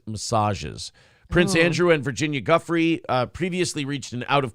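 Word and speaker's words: Giuffre: you pronounced her name Guffy that's what it is Guffy uh there is also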